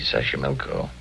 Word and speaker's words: Xochimilco: Okay, so you pronounce it better than I do. It's easy, Xochimilco.